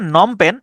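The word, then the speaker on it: Phnom Penh: উচ্চারণটা হচ্ছে নমপেন। যেটা হচ্ছে কম্বোডিয়ার রাজধানী। কিন্তু বানটা খেয়াল করেন পি এইচ পি এইচ এনও এম নম পেন এইচ নম এবং পেন উচ্চারণ হচ্ছে এইটুকুর কিন্তু বাড়তি আগে পরে অংশ আছে পিএইচ হচ্ছে একটা অংশ এবং শেষে এইচ হচ্ছে আরেকটা অংশ তাহলে নমপেন এটা হচ্ছে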